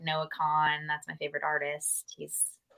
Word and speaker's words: Kahan: okay yeah k-h-n yeah it looks like Kahan but it's Khan dial drunk yeah that's